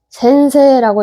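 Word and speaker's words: 先生: 센세라고 읽었었죠.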